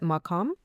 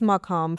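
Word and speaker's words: maqam: The reason I ask is because I was reading about, do you pronounce it makam? Makoms.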